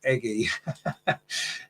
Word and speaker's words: Aggie: Matt says, video I saw the other day, Aggie says Serena pronounces her name as Eggy. Eggy Beaver-Jones.